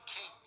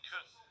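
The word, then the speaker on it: Küng: It's actually halfway between Kun and King.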